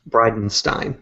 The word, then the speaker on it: Bridenstine: Is that how you pronounce it? Bridenstine? Bridenstine.